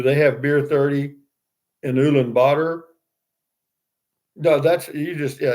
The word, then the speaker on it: Ulaanbaatar: It depends on where you look, but it's pronounced Ulaanbaatar, or some people pronounce it Ulaanbaatar.